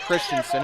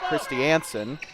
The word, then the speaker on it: Christensen: It's not Christensen. It's Christy Anson.